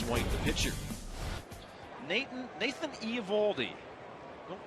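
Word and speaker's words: Eovaldi: and then Alex white the pitcher Nathan Nathan e evaldi don't pronounce Theo evaldi we are told big right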